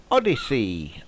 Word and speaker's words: Odysee: I think that's the first one affected, and it will be over on Odyssey. That's spelled ODYSEE for those of you who aren't sure.